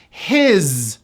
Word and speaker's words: his: His, believe it or not, that S is pronounced as a Z.